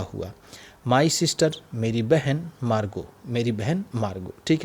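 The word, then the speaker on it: Margot: my sister मेरी बहन मार्ग मेरी बहन मार्ग ठीक है ये ऐसे मार्गोट टी है टी यहां पर हम साइलेंट रखेंगे क्योंकि मार्गो ही नाम होता है ठीक मेरी बहन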